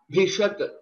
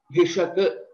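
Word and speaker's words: भिषक्: Again, we will have to roll back our tongue to pronounce this letter. Bhishak, Bhishak, Bhishak.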